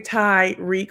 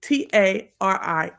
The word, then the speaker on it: Tariq: I'm not saying Tyreek with a Y. I'm saying Tariq, Tarik, like it's spelled. Okay. These folks on this on this ghost stuff is calling him Tariq, which if his name was Tariq, it would be Terik. His name is Tarik.